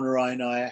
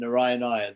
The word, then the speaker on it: Narayanaya: As it is said, Om is 1 syllable. Namaha is 2 syllables. And Narayanaya has 5 syllables.